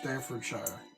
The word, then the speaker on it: Staffordshire: You want to try to pronounce it? Staffordshire. That's right, Staffordshire.